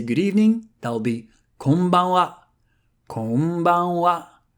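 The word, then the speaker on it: こんばんは: If you want to say “good evening” there'll be ‘konbanwa’ ‘Konbanwa’ Same thing here: は is read for exactly the same reason because the original sentence was “Konban wa gokigen ikaga desuka” So we've just learned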